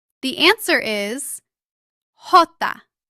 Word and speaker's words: Jota: How do you pronounce the name of the Spanish letter J? The answer is Jota.